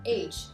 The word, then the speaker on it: âge: Alors ici, la seule différence qu'on aura, c'est que ici, c'est plutôt un son E, comme on aurait H, comme un son l'accent grave, je dirais H. Age, comme ça.